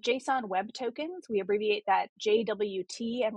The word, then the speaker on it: JSON Web Token: Called JSON Web Tokens. We abbreviate that JWT and we pronounce it JOT just to make it easier